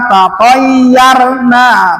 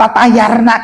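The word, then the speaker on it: تطيرنا: Qalu inna tatayyarna bikum. Jangan tatayarna, kemana tatayarna? Aduh, tidak enak mendengarnya tuh. Memang sih, kalaulah melihat latennya tathayarna, kalau melihat latennya jangan tatayarna, kemana? Ta dengan to beda, bentuknya juga udah beda.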